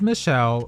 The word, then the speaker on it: Michelle: Now we have Alexis Michelle whose last name rhymes with hell.